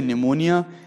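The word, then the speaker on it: pneumonia: निमोनिया इसलिए क्योंकि जब हम निमोनिया को इंग्लिश में लिखते हैं तो इसे लिखते हैं हम प्न्यूमोनिया करके, ऐसे प्रोनाउंसिएट नहीं करते, लेकिन ये PNU से करके स्टार्ट होता है।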